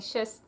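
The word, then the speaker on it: шестнадцать: You're not saying the T in the shist. You're saying shist. No T. You're not pronouncing it, although it is spelled in the word, I believe.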